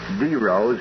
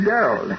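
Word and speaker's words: dero: thing Dominic you told me that the correct pronunciation is D Rose and I've noticed the last 20 minutes you've been saying Daryl what is it oh I guess it's force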